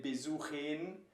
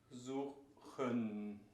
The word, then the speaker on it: besuchen: Again, you wouldn't say besuchen, would sound really weird. So besuchen.